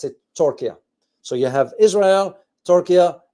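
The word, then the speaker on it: Türkiye: from now on for me I will be pronouncing Tokia to that's how it's pronounced in English but in Arabic you pronounce it Tokia so you have Israel Tokia and the Gulf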